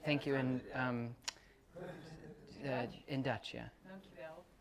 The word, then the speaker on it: Dankjewel: Dankjewel. Dankjewel. Dankjewel. Like die? Dank. Yeah. Jawel. Dankjewel. Dankjewel.